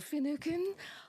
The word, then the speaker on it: Finucane: Finucane. Hope I'm pronouncing your name right. You are indeed, yes.